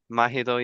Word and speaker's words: Mahidol: You're the music director at Mahidol University.